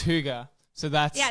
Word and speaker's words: hygge: of trying to figure out exactly how to pronounce it at first cuz I was like is it hii is it hugu is it so it's Huga so that's yeah it's spelled h y gge